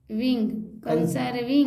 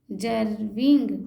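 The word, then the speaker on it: conserving: अब एस को स बोलते हैं, ज भी बोलते हैं, ज बोल। कंसर्विंग। अब स को ज बना दीजिए। तो बोल तो रहे हैं। हाँ, कंसर्विंग। स को ज बना के बोलिए। कंजर्विंग। हाँ, कंजर्विंग हाँ। रिसोर्सेस। दिस में भी यही आप फंसी। सब, अरे एस है तो खाली स नहीं होगा। इंग्लिश में इसको ज्यादातर ज ही पढ़ते हैं हम लोग।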